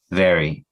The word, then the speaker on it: very: So people will say very, very, very, but if I can pronounce the V correctly, very, very, very, but when it comes to the R, I think I am pronouncing it correctly, very, very, very. But I noticed that many people pronounce it this way. It's a very, very. It's like this re. And I noticed that most Spanish speakers cannot pronounce re.